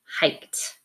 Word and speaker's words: hiked: Notice that the letter is D, the ED ending, but it's going to sound like a T because of the K and the T. Those are unvoiced sounds, so we pronounce the ED on this word as a T, hiked.